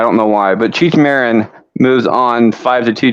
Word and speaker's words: Marin: talking Cheech Marin and I've been pronouncing it wrong the entire time I've been putting Martin I don't know why but Cheech Marin moves on five to